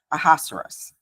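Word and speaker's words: Ahasuerus: on to King aerus aerus I I listen to the pronunciation many times and that's what they say aerus but I'll probably mess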